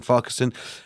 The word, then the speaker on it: Farquharson: We're joined now by Christine Farquharson. If I pronounced that right, Christine.